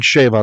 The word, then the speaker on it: schwa: You might hear people saying sheva. That's just modern Hebrew pronunciation because the w sound in ancient Hebrew became a v in modern Hebrew, which is why some